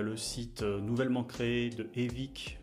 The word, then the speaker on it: Evic: site nouvellement créé de Evic. Je vais le prononcer en français, Evic Europe, puisqu'il faut savoir qu'avant c'était un site spécifiquement destiné au marché, on va dire nord-américain.